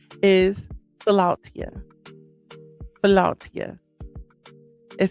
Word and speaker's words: Philautia: But the correct pronunciation of this word is Philautia.